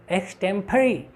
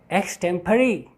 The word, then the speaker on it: extempore: This is नॉट एक्सटेम्पोर. यू कैन सी the exact pronunciation, the phonemic transcription, the exact pronunciation of this word is extempore. Extempore. Extempore. Look at the phonemic transcription. It's extempore. Both in American and British English, it's extempore.